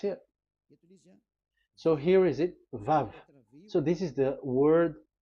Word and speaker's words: Vav: So the word, the shape Vav is really pronounced V, like Vogue. That is it, pronunciation. So here in this side, it's pronunciation. This is pronunciation. So according to the old Hebrew word today, those who the owner of the words, I mean, so it's a V. So don't change it into W, and you will say